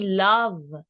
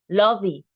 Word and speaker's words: love: We don't say love, lovey. No, right? We say love, love. We don't pronounce the E.